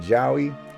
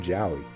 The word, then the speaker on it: Jowy: the little character section I have Joey or Joey you can let me know in chat how you pronounce his name I said Joey nobody corrected me in